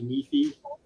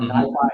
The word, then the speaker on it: NiFi: I used it for many years called Apache NiFi, or NiFi, however you like to pronounce it.